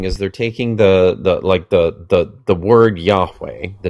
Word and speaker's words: Yahweh: They're putting vowels from another word, Adoni or Adonai, underneath those consonants, and it's a signal to them to go, oh, I shouldn't pronounce this, and then they would replace it, usually with Adonai or with Hashem, which means the name. But it was so that they wouldn't end up accidentally pronouncing Oh, okay. Yahweh. That's why they did it. But the dumb German theologians are like, oh, Jehovah.